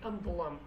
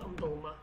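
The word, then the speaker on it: ئەم دڵەم: But in Slemani or in Kurdish standard, if you want to say this heart of mine, you should say Amdulam, not Amdulma.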